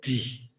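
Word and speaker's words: धीः: through language, and then it ends with the syllable Di. The seed syllable of Manjughosha and also the seed syllable of Paranita Paramita. There's not much you could say about that, really. It's the sound symbol of Manjughosha. It expresses his gentle voice. It rhymes with free.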